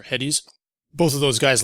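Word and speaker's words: Hettes: I believe his name is pronounced Hetz or Heddies.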